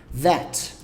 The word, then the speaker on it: that: Já o that, a pronúncia dele é assim, ó. That. That. Vibrei lá com a pontinha da língua entre os dentes e falo that.